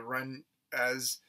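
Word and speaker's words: Mrunas: tribe called the the run knees it's actually spelled m-r-u-n-a-s or the run as uh if the m is silent um the missionary society wants to try to save the the run as even though it's obvious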